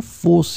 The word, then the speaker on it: fosse: So let's remember, fosse here, the adjective, the feminine form, it could be the singular or the plural, as we saw, it would be pronounced the same way, fosse.